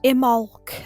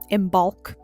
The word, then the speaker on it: Imbolc: Or IMBOLC as I've heard people pronounce it, but there's a B in there so I say IMBOLC.